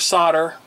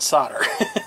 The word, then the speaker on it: solder: pronounce the L but here in the United States we don't traditionally pronounce the L in solder there's a there's a